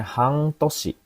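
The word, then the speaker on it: 半年: Han eh sori hangtoshi ini bacanya hangtosi.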